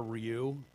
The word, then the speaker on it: Rioux: Oliver Rioux. How do you pronounce that? I would say Rio. Rioux. It's a French name.